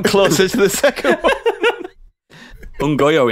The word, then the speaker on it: Nyong'o: Ungoyo, isn't it? That's how you say it.